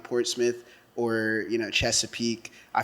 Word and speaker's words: Portsmouth: where you grew up but you're from from Portsmith right yeah I'm from Portsmith all right see that's how you pronounce it Port Smith Portsmith not Portsmouth nobody said that man my people from a